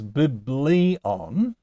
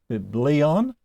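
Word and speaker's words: βιβλίον: And it goes biblion. And look, it's got an acute accent, and an acute accent can always go on the last two syllables, so it can just stay where it is.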